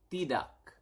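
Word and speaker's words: tidak: also yes is yeah and then no is T duck dee da dee da okay so we have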